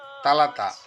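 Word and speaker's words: ثلاثة: 3, আরবিতে উচ্চারণ হবে তালাতা।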